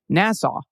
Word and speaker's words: Nassau: Friday's good news story featuring roller derby in Nassau County, New York is actually pronounced Nassau. Same as Nassau, Bahamas.